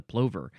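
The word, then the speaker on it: plover: That is the golden pver. Pver what rhymes with clover.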